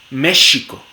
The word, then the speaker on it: México: Esas palabras que solían escribirse con X se pronunciaban sh, por ejemplo, México o mujer. Eso era con X, pero con el paso del tiempo esa sh pasó a realizarse como j, y entonces ahora tenemos México y mujer, aunque mucho